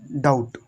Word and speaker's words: doubt: तो इसको हम क्या पढ़ेंगे? इसको हम सिर्फ और सिर्फ पढ़ेंगे डाउट, डाउट, क्योंकि बी नहीं पढ़ेंगे, क्योंकि बी हमारा कैसे रहेगा? साइलेंट रहेगा। इसलिए DOUBT, डाउट, डाउट पढ़ेंगे।